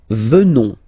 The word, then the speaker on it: venons: Nous venons. Okay? O-N-S, classical ending for nous. Okay? Final S not pronounced.